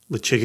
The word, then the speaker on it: Ledaig: Very simply, Lechig and Glenmurray. Damn it. So to translate what Jason said. Was that slow enough? Lechig, or lechig, some people say lechig.